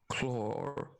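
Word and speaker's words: Claud: Clore. Clore. C-L-A-U-D. Clore. Claw. The D is silent.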